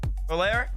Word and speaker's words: Valera: On the other side, though, I mean, this team in particular, Valera, is that how y'all pronunciate it? Talking about my boy Crispy. Valera? That's how Talk said to say it. That's how he said it.